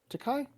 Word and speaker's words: Takei: so the reason I brought up George Takei and Takai, Takai.